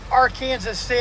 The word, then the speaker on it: Arkansas City: were talking about ark city yeah it's actually pronounced our kansas city oh yeah our kansas city kansas city kansas